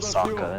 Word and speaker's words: Sokka: Yeah, they pronounce like half the names wrong. It's Wow. It's That like movie's famously Soka bad. instead of Sokka and stuff.